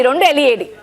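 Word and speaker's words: read: రీడ్, R-E-A-D, same spelling. That is pronounce two ways. రెడ్ ఒకటి, రీడ్ ఒకటి.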